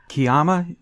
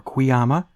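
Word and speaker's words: Kuiama: Kiyama is morbid, or Quiyama. I'll cover both bases before anybody writes me another nasty note you're saying it wrong.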